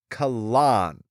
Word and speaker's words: Kahlan: So I get it, but I also know that the author has literally been It is pronounced Kahlan. Kahlan. It's Kahlan.